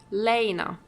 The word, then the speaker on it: Lena: telluride won't be long lena lena okay that's how it's pronounced i see sir your